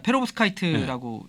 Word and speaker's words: 페로브스카이트: 자 그러면 본격적으로 오늘 좀 열심히 공부를 해보기로 한 페로브스카이트 네네. 발음이 맞습니까? 맞습니다. 페로브스카이트라고 얘기를 합니다.